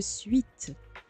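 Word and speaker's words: suite: Esteemed guest, would you like to enter the private suit now? Suit, whatever. I don't even know how to pronounce that. Enter the sweet. Let's pronounce it the French way.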